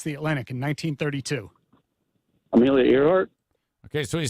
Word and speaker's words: Earhart: Oh, yeah, you got it right, Earhart.